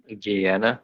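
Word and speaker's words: Gehenna: Have fun with the Have fun dealing with the uh the gayana dragon. Guyana.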